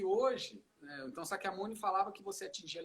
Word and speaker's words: Sakyamuni: A pronúncia é Sakyamuni. E tem pessoas que falam Shakyamuni.